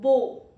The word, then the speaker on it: bow: It rhymes as go bow.